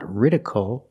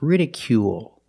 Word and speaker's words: ridicule: It's not ridicle or ridicule. It's ridicule. Make the long ooh sound plus the dark L at the end of the word ridicule. Ridicule is a verb.